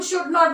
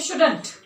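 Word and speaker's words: shouldn't: और इसे हम शुड नॉट नहीं बोलेंगे, इसे हम बोलेंगे शुडंट. क्या बोलेंगे? शुडंट.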